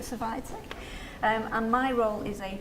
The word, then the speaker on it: Survitec: I work for a company called Survitec, or Servitec. I think most people pronounce it Survitec.